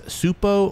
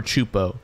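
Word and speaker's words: Csupo: clip you watch the word would be either pronounced as supo or chupo this logo would go through many changes throughout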